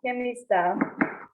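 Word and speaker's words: Γεμιστά: Yeah, Yemista. So the first letter, it's like between a J and a G, maybe.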